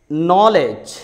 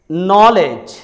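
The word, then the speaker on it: knowledge: अगर लेटर के बाद एन आ जाए तो लेटर के साइलेंट होता है. जैसे नॉलेज, नॉलेज.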